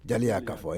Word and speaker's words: Jaliya Kafo: And the Jala Kafu. Jala Kafu.